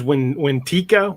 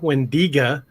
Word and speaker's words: Wendigo: Wow, that's a Wendigo or a Wendigo. When depends on the tribe. A lot. There's Wentika, Wendiga. There's a dozen different pronunciations for the same creature.